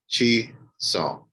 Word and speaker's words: Chisom: It's been a good little minute, but I'm happy to have, let me pronounce it again, Chisom. It's close. Chisom, but Okay, say it again. like that. Chisom.